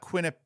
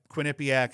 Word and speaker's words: Quinnipiac: pronounce that Quinnie PAC it's not Quin up Quinnipiac I always think that I mean it's Quinnipiac is what it looks like I think it's just Quinnipiac I'm gonna call it